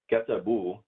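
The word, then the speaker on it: كتبوا: Katabu is they wrote, and then we're adding these letters right here, the waw and alif, and that's just pronounced as u, katabu.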